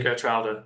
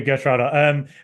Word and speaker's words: Geertruida: have a very like they say with their G's, which is something I'm still trying to learn how to do. So if any Villa fans watching this, just say Geertruida. It's absolutely fine.